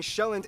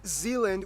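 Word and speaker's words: Sjælland: but the largest island being shelland not zealand which is not to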